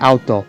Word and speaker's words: Aoto: like a human named Aoto. Yeah, it's spelled like A-O-T-O, and it kind of sounds like auto, like a car.